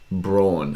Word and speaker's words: Braun: selected someone called christian braun it's b-r-a-u-n which is a german name and they're calling him christian brown and there's nothing it